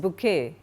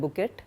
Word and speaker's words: bouquet: Florist bouquet. It's not pronounced at bouet. It's a French word bouquet.